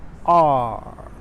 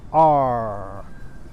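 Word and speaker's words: 二: Beijing people will also pronounce this way, R. But you have some people, about 80% of Chinese people will pronounce and it's not R.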